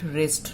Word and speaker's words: wrist: We call it wrist, not wrist. W is silent here. Earlier we used to pronounce it as a schedule.